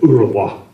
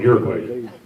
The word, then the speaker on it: Uruguay: They pronounce it Uruguay, but we call it Uruguay.